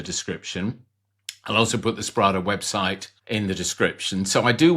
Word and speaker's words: Sprada: it's Sprada. Did I pronounce that right?